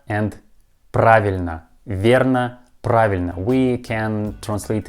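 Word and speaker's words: правильно: of this word but we pronounce this letter like ah praveen next phrase uh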